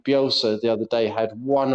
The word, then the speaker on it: Bielsa: He couldn't pronounce Bielsa properly, and he called him Belsa.